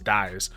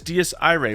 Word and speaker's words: Dies Irae: Players are going to assume it says dies. But it's Dies Irae, which is actually based on Latin, which I know some basic, Italian and some basic Spanish, so that's probably why I jumped to saying it correctly.